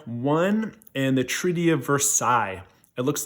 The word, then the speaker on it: Versailles: World War II, because think of the pronunciation of Versailles. This is how I remember it: Versailles. Sigh. This treaty sucks.